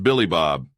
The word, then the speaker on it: Billy Bob: his translator options what my name is bleebob not some filthy hyan name it's pronounced Billy Bob the trucker said there